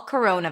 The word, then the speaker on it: corona: We start with a c sound, then it's awah c row. O is in go coro and then n corona.